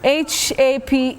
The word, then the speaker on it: haphazard: Let's start to my words, my pick, and I'll start with this word, and I'll spell it out. It's a mouthful. H-A-P-H-A-Z-A-R-D.